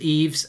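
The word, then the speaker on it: Yves: Ollie could call Basuma Evie because his first name's Eves is pronounced like the name Eve.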